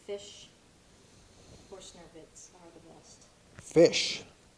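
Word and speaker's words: Fisch: Fish. Is that spelled like? F-I-S-C-H. Oh. Fish, F-I-S-C-H.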